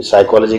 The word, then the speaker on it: psychology: हो गई है कि साइकॉलोजी का पीस साइलेंट क्यों होता है और भी इंग्लिश लैंग्वेज